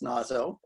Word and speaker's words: Naso: I assume it's pronounced Nazo, although I think WS Gilbert rhymes it with say so in one of his lyrics in Ireolan.